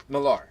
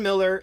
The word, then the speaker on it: Millar: And Mark Millar is actually pronounced Mark Miller. I know that. Yes. Okay. No, okay. I call him. What did I say? Millar.